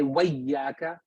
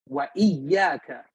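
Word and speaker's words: وإياك: We don't say wayyaka. We don't drop it. We pronounce it because that's what it's there for. It's hamzatul qata. Wa iyyaka nasta'in.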